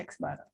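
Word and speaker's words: x̄: lambangnya seperti ini itu dibacanya dibacanya X bar ya oke kemudian macam-macam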